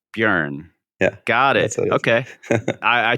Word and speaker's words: Björn: The thing is, it's a Swedish letter, so it's Björn, like learn. Björn.